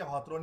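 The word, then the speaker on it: Hawthorne: हॉथरन की स्पेलिंग ये है, ये हिंदी और इंग्लिश में ये हॉथरन ही पढ़ेंगे इसको, HOWTHRONE। इट is also called behavioural approach.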